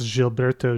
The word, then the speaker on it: Gilberto: I think that uh it's pronounced jilberto Jill you are correct